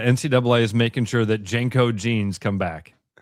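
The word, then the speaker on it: JNCO: Like you look up uh is how is it pronounced? Jenko.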